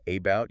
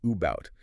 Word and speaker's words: about: Uh in the word about, you don't say about, you say about. The a is a schwah or banana.